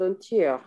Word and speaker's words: entier: propagé dans le monde entier. Entier, entier. Entier, Vous entier. voyez, au masculin, on va dire entier. Au féminin, on va dire entière. Mais souvent, en français, les consonnes finales ne se prononcent pas.